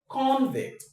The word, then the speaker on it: convict: Remember, for the verb, the stress goes on the second syllable.